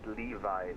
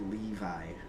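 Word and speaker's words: LEAVI: Delta 900 clear Levi Lima Echo Alpha Victor India. All right. Clear direct Levi American 900. Should be pronounced Levy as well.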